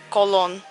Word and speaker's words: Köln: I'd say no because the people from Cologne don't pronounce the city Cologne they pronounce it : Köln In England we just